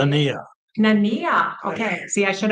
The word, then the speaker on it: Nania: Nania.